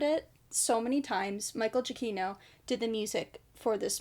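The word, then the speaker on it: Giacchino: I learned how to pronounce his name I butchered it so many times Michael jaino did the music for this movie and I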